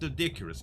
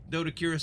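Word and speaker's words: Doedicurus: Now, just for a little bit of Dodicurus action, or Dodicarus, however you want to say it. Listen, I know I get corrected all the time in the comments. Z, it's pronounced Dodicarus, and I heard HLNA say it too.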